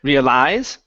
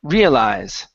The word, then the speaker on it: realize: is okay right here instead of realize putting the stress at the end here the stress is at the beginning realize realize uhhuh I already began